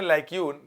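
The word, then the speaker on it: lacuna: आगे देखिए एग्जाम्पल में क्या दिया हुआ है, लैक्यून, प्रोनाउंसिएशन है लैक्यून, मैं याद करने का लैक्यून ना, द लैक्यून्स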